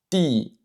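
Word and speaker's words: 弟: Ici, le D que je prononce, c'est vraiment entre le D et le T français. Je ne dis pas di, di, je dis ti, ti.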